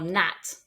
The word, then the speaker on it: gnat: for example gnome or Nat and in this case the G is just there to look pretty we don't pronounce it it's pronounced n gome